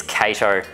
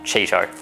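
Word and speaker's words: Chaeto: And yes, that is the correct pronunciation. It's Cato, not Cheeto.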